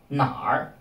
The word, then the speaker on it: 哪儿: R at the end is pronounced together with the syllable before it. Nar, nar instead of a nar.